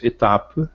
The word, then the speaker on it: étape: Étape, etapa. Observar que é final em francês não se pronuncia, existe graficamente, mas não existe foneticamente. Então eu vou até a consoante final anterior.